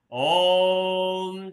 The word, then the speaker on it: ओम: दीर्घ का उच्चारण करेंगे ओम का उच्चारण लयबद्ध तरीके से ओ और म दो और एक के अनुपात में हर गहरा लंबा सास